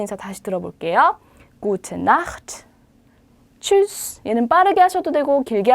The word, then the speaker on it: Tschüss: Tschüss라고 있습니다. 추 발음이 나야 돼요. tschüss라고 읽으시면 되고요.